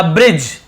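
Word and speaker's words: bridge: यहां पे आप देखेंगे डी साइलेंट है इसे हम लिखेंगे नहीं ब्रिज सॉरी लिखेंगे लेकिन इसे पढ़ेंगे नहीं ब्रिज नहीं बोलेंगे ब्रिज लिख लीजिए ना ब्रिज ब्रिज मन में बैठ जाएगा पता चला आप गलत ही बोलने लगे तो ऐसे नहीं बोलना डी साइलेंट लेटर है केवल ब्रिज ब्रिज पढ़ेंगे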